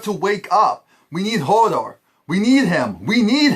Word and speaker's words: Hodor: wolf is helping out and right now whole Hodel holder Hodor Hodor dammit you say his name right I